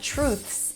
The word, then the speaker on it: truths: And by the way, to pronounce truths, you start with a ch sound, then an R, tr, long oo as in food, true, and then THS together. Truths.